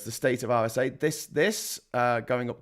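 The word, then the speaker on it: Acre: I know it looks like the state of Acra or AA but it's actually pronounced RSA so it's the state of RSA this this uh going up to almost the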